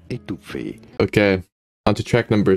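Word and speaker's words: étouffée: This is a word of French origin. In French, it is said as étouffé.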